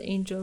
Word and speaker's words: Ange: Most people pronounce it like the word angel without the L though.